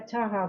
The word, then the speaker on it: Taha: Uh pronounce ta uh your name is cha cha cha. Yeah, Taha.